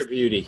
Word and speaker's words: Tripodi: Tripodi? How do you say Chris it? Tripudi.